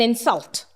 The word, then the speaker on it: insult: I'm stressing on in. Insult. He insulted me. Sul. It is a verb. I stressed on the syllable sul.